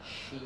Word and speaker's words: sheep: High tongue, a little bit of air, not much. Just sleep. Sheep. Oh, sorry.